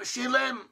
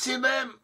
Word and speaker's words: Shilem: And we also have Shilem, pronounceable as Silem, who also possibly gave